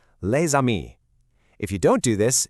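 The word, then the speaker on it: les amis: The S at the end of lei is normally totally silent, but because amii starts with a vowel, that s activates and makes a z sound. linking the two words perfectly.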